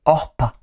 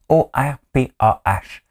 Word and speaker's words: Orpah: Son vrai nom, c'est Orpah. O-R-P-A-H.